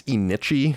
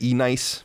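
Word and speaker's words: Enyce: the kitchen is wearing i think it's inichi yeah i used to say e-nice but it's not how you say it e-n-y-c-e remember that that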